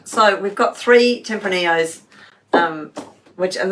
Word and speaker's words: Tempranillos: so we've got three tempranillos um which and that's because it's spanish that's the reason you don't pronounce the l's right templini um yes we have three tempranillos here to taste the